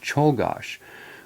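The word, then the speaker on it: Czolgosz: who's from Europe and he said it simply is Leon Cheol gosh well for Leon Cheol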